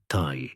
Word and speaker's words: ti: For example, a drawing of an arrow pronounced Thai in Samrian could also represent the word life, also Thai.